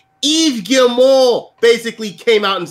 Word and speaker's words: Yves Guillemot: Maddie, I gotta confirm my pronunciation. Yves Guillemot basically came out and said this.